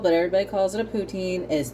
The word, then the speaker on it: poutine: going to be making a poutine or a putin as it is supposed to be called but everybody calls it a poutine is not a big deal i'm sure somebody's